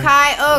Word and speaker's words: Kyogre: Kyogre.